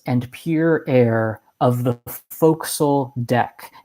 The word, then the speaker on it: fo'c'sle: pure air of the fo'c'sle deck it looks like it's spelled forecastle right but it's it's fo'c'sle that's like the nautical pronunciation he end quote he